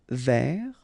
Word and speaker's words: vers: Final S not pronounced. Tourner vers.